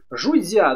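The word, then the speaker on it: 儒家: Жудзя, да, интересно. Наверное, мало кто об этом слышал, но вообще есть такая школа, которая называется конфуцианство. Или школа ученых. Ну вот Жудзя, она вот так вот по-китайски произносится.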